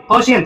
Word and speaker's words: ocean: ओशियन।